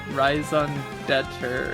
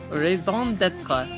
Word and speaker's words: raison d'être: He says "rise on Dutcher" or something.